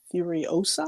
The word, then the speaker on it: Furiosa: And then the last thing, the last trailer I would mention is the sequel to Mad Max Fury Road, and that's Furiosa. Am I pronouncing that correctly?